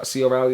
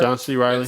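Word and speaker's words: John C. Reilly: and what is it, C. O'Reilly? Did I say his name right? John C. Riley. John C. Riley. Yeah. I said O'Reilly. Why put O in there for?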